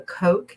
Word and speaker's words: Koch: I use what's called the Coke system because things go better with Coke, and that's spelled Koch.